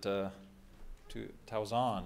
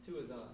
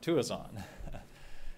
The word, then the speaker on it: Tuazon: now I was going to pronounce it Tuazon, but I heard last night it was different. How do you? Tuazon. Tuazon.